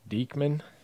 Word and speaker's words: Diekman: Vladdy that's paper autographs parallel Blake Rutherford great Diekman that's how you say it Chris Rodriguez gold